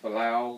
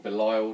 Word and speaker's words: Belial: you're going to take Belial, which you probably are, or Belial, depending on how you pronounce him, he's already got a Warlord trait.